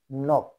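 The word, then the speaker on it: knock: না উচ্চারণটা হবে টমাস এখানে কে সাইলেন্ট হবে অর্থাৎ কে উচ্চারিত হবে না যেমন কে এন ও সি কে নক কে এন আই এফ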